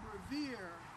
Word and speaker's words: Revere: night only paul revere only his name revere rhymes with the word year and perhaps that's why